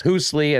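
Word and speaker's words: Hoosli: way at h-o-o-s-l-i hoosley i think sometimes i've been pronouncing it hoosley but uh yes hoosley and uh you know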